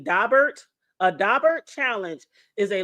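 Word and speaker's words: Daubert: Now, for y'all who don't know, because I didn't know this either, but a dabbert and it's spelled D A B E R T. Dobert.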